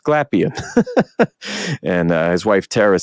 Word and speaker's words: Glapion: saying it wrong all these years but it's pronounced glapion and his wife terara said it's actually probably like gapon or something like that but we say glapion like all right cool got that now but